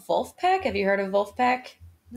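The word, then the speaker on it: Vulfpeck: funk musician um so there's a band called wolf pack have you heard of wolfpack they are the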